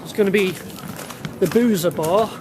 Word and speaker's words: Buza: Okay, the first port of call is going to be the Buza bar. The locals say Buza, B-U-Z-A.